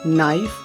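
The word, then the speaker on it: knife: जब किसी शब्द के शुरुआत में के और एन लगे हों, के एन, तो ऐसे वर्ड में के का उच्चारण नहीं होता। For example no, knowledge, नाइफ, night.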